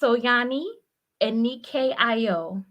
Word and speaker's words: Soyani Anike Ayo: It's so It's pronounced Soyani Anike Ayo. So AA Anike Ayo and then. Soyani Anike Ayo.